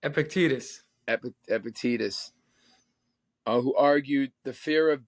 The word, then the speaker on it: Epictetus: Now, I always say this guy's name wrong, but I know you're really into the Stoic philosophers. Epiqrus, Epictetus. Epictetus, who argued the fear of death is a